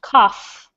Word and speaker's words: cough: pronounced like it um the gh makes a f sound cough um so what causes